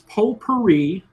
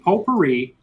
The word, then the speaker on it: potpourri: The category is potpourri. The T is silent. Question 1, 7th inning. It's 6-5 JD, potpourri.